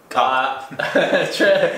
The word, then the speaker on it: как: It's K-A-K, but it's, you know, it's a K, not a C sound.